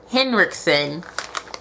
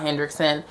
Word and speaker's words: Henriksen: got were the oola henriksen i've been saying it wrong the whole time it's oola hendrickson grease relief cleansing cloth